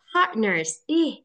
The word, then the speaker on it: partners: Partners, itu hembusannya ya. Partners. RT-nya jadi hilang kan sebetulnya partners.